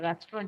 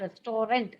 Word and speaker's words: restaurant: have gone to a restaurant you call it as restorant no it's called pronounces restaurant in english restaurants so as they